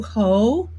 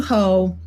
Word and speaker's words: Hoh: run and this is the campaign of matthew ho that's spelled hoh who's running for senate in north